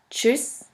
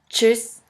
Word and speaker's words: Tschüss: The next letter combination is TSCH, TSCH, which is simply pronounced like a CH in English. Here we have the example of the word Deutsch, Deutsch, which means German, and of the word Tschüss, Tschüss, which means bye.